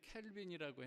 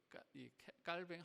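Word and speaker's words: Calvin: 어, 존뱅이라고 우리가 한국에서 예전에는 캘빈이라고 했는데 이제이 깔뱅 학회에서 그래도 프랑스에서 말하는 그 발음대로 하는게 좋다. 그래서 깔뱅이라고 이렇게 얘기를 하는데요.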